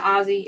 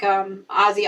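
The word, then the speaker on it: Ozzie: Ozzy, Anita, Ozzy, as in like Ozzy Osbourne, that kind of Ozzy.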